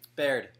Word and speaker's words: Baird: called my middle name Baird my whole life and it's just stuck so it's be Aird it's pronounced like bear with a D at the end but it's not spelled